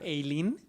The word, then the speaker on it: Aileen: Aileen, que nos comenta por mensaje que su nombre se pronuncia Eileen.